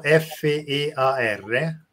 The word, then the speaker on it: fear: Paura in inglese è fear, che è scritto F-E-A-R, quindi fear, letto all'italiana, e uno degli acronimi